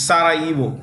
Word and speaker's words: Sarajevo: The J in this word is silent. It's Sarajevo.